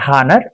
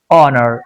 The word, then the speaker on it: honour: HONOUR should be properly pronounced because H is silent. We have discussed this topic in the previous mid examinations. HONOUR is not honor, it's honor. H goes silent.